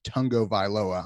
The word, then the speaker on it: Tagovailoa: that with Toa and his last name is pronounced Tong go by lower I'm still gonna call him tor - because